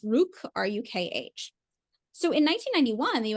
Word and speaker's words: Rukh: As early as 1989, Ned was funding a Ukrainian independence movement known as, I believe it's pronounced Rukh, R-U-K-H.